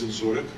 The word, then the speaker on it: Dzinziruk: One is I couldn't really pronounce his name at the time, but it's Dzinziruk.